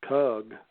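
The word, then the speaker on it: חוּג: You pronounce kug, and that kug actually meant a sphere.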